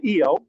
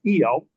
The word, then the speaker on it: Io: The moon's called Io. I insist it's pronounced Io.